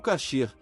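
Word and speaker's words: כשר: Ainda falando de comida, quem visita Israel logo percebe placas e letreiros com a palavra coacher ou cacher na pronúncia hebraica.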